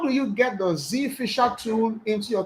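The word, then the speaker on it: Zphisher: to is called Z Z Fisher okay it's spelled like this Z Fisher Okay Zed Fisher and the Fisher is p i s h e r so right now we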